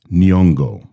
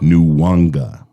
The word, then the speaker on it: Nyong'o: Her name is Nyongo, not New Wanga. I don't know where Ryan is seeing the letter W in her name, what with it literally